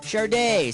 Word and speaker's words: Sade: How the heck do you pronounce that? Sade, Sadie, Sad, or Saw? It's pronounced Sade.